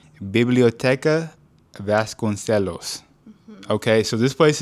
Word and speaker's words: Biblioteca Vasconcelos: To the library, and it's pronounced, I want to make sure I get this right, Biblioteca Vasconcelos.